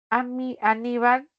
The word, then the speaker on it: Aníbal: Aníbal, nombre que terminó en consonante L, por eso puede tildarse.